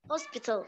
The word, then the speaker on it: hospital: Hospital. Hospital. Hospital. T flap T. Between two vowels, pronounce the letter T. D, D, hospital.